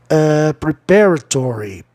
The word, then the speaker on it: preparatory: Prepare, preparatory, preparatory, outra palavra antipropalaxítono.